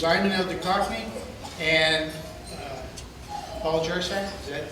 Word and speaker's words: Jersak: This is Ayman El Cockney and Paul Jersak.